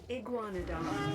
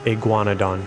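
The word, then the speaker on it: Iguanodon: Iguanadon. Iguanadon. I thought it was going to sound like that. Okay, Iguana. Should have been able to figure that out.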